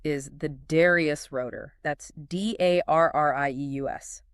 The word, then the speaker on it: Darrieus: That's d a r r i e u s, pronounced Darrieus.